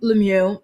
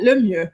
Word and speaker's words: Lemieux: couple Brennan and Alexa Lemieux decide why am I pronouncing it like that? Lemu their last name is French and it means the best.